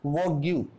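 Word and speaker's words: vague: Similarly एक और example लेते हैं, वी ए जी यू ई, फिर हमारा जी और यू ई का कॉम्बिनेशन आया, यू ई हमारा क्या रहेगा, साइलेंट रहेगा, इसको क्या बोलेंगे, वैग।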